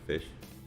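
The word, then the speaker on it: ghoti: and it's mr fish so it's spelled g-h-o-t-i but it's pronounced fish yep there's a an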